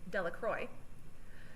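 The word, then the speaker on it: Delacroix: Bobby and Harry Jones and Dicky Delro, the villagers pronounced this name Delacroy, eventually made a great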